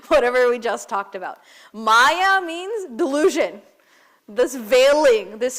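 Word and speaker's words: māyā: Now the second part maya please don't mispronounce it and say maya because that will negate whatever we just talked about. Maya means delusion.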